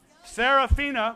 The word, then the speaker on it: Seraphina: so everyone can see seraphina which of course rhymes with concertina so i can remember what